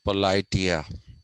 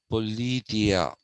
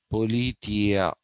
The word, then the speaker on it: Politeia: ask us to say politia no it is politia politia actually there's a greater emphasis uh on the tia it's yeah that's how